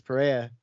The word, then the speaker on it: Pereira: And then Israel Adesanya knocks out Alex Pereira. Perrier. I keep calling him Pereira. Perrier. They always say it like Pereira, but I'm like, I'm gonna pronounce those letters because I'm American.